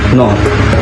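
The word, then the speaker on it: Noh: A haiku is a 17 syllables descriptive poem, and they have also diverse form of theater, or what they call no, N-O-H.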